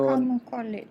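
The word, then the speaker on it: Primož Roglič: So Primož Roglic.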